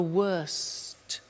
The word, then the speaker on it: worst: T bad worse the worst don't forget to pronounce the T and then far the